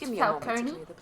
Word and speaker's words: Falcone: I do prefer it to be pronounced Falcone. No. No need to spoil Otherwise, it just sounds like an ice cream cone.